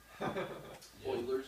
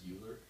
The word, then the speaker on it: Euler: Euler's It's number. been my new I always read it natural as Euler, but it's pronounced Euler.